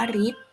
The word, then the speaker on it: ฤทธิ์: นัก เรียน คะ หรือ ตัว นี้ อ่า ออก เสียง เป็น ริ ได้ นะ คะ เช่น คำ ว่า ฤทธิ์ อ่าน ว่า ฤทธิ์ ทฤษฎี อ่าน ว่า ทฤษฎี